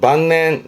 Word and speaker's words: 晩年: 만년이라 발음은 반낸 반넨 음으로론 반갑니다.